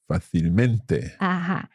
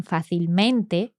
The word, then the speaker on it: fácilmente: But because fácil has an accent, then the adverb maintains the same pronunciation. Well, not the same pronunciation, but the stress is still on that A, on that first A.